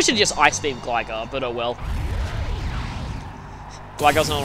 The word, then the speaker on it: Gligar: I used to call it Gligar, but now that I know it's a pun on Glide, it's kind of like Bonsly.